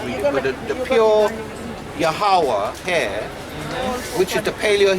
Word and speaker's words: Yahweh: So it would be pronounced Yahweh. Because Yeah, but the ha at the end is kind of silent, but it's Yahweh.